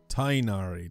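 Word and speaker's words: Tighnari: forest sincerely you're student tyari tinari that's how you pronounce it okay I always have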